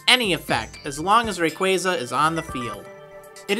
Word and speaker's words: Rayquaza: good going Team Aqua and Team Magma ah Rayquaza's name is often times pronounced as Rayquaza this makes sense in all and I even